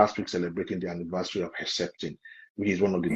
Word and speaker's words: Herceptin: How do you pronounce? How do you say, doctor? Herceptin. Herceptin, yes.